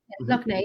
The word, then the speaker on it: Loch Ness: Loch Ness.